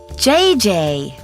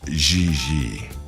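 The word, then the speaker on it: Gigi: I mean JJ ji JJ on France you pronounce g like J and J like G she may very well be JJ in America but in France she is XII has she done modeling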